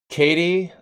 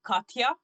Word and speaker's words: Katia: can get this right katie i'm wrong because actually my name is katia like oh so we we pronounce it katya katya yes okay the